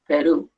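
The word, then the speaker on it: Perú: so see Peru Peru Peru has an accent on the you Peru okay umos um noos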